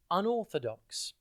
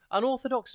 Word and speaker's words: unorthodox: TV today's word is unorthodox it is pronounced unorthodox and it's spelled you n o r t h o d o x think um or and then the letter O and then dock spelled D X unorthodox means the opposite of